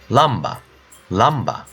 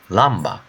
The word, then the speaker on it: lamba: How you pronounce the word lamp? Same. Lamba, le, lamba.